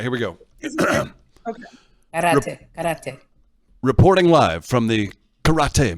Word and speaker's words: karate: Everybody's toes clench the floor when you don't have socks on and you're doing karate. That's fair. Okay, so don't just say it, Chris. Karate. Just roll your R.